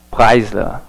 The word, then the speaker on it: Preisler: O Rodrigo está falando a pronúncia, Preisler, né? Legal. A pronúncia, acredito que a pronúncia é alemã, né? A pronúncia correta. Preisler.